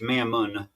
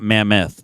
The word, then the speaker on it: mammon: It's mammon. Mammon, not mammoth, but mammon.